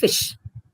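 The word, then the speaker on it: ghoti: of nation sh sh then you see goti would become D of enough o of women t i of nation goti would actually be a fish now this is to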